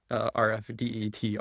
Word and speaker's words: RF-DETR: B um you say it as a word um but with a long e rf deer I've heard some people say um or do you spell out this acronym rfde t.